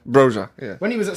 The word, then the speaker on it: Broja: Boja. Broja.